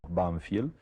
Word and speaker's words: Banfield: Bueno, el pueblo se llamaba, nosotros lo pronunciábamos Banfield, y es un pueblecito que en esa época